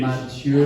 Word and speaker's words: Mathieu: Mathieu. My wife told me there's no H. Mathieu Lehanneur.